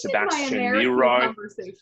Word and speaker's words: Sebastian: amanda my name is sebastian so of course she she pronounces it with the american way so it's sebastian uh because because i